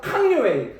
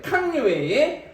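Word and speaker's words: 康有为: 그 한자 그대로 읽으면 강류인데 한자 중국식으로 발음해서 캉류웨이 캉류웨이 이렇게 좀 이야기 되겠습니다.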